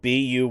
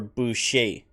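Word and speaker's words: buy'ce: B bue or bu either way it's going to have the sh sound so I'm not exactly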